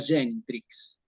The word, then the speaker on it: genitrix: Solamente la G con la I y la G con A. Entonces aquí nos va a quedar genitrix, ¿sí?